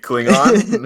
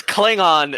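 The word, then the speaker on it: Klingon: think I don't know how to speak clling on it's Kling on so who the [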